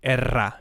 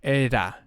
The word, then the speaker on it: era: have a soft sound for example era it will not be erra it would be era this r maybe it's